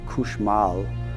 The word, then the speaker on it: cauchemar: Cauchemar, all cauchemar means is nightmare. It's a French word for nightmare. And there was, it's pronounced variantly in Louisiana, couche mal, which means to sleep poorly, which you could see